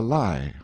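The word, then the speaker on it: Lei: high rock called the lie or Li pronounced like our word lie in the Rind and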